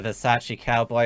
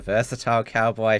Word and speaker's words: Versace Cowboy: We have got a super chat over on Entropy from the Versace Cowboy. I also learned how to pronounce his name because remember I called him the Versatile Cowboy first.